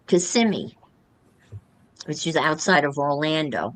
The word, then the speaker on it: Kissimmee: But it's pronounced Kissimmee.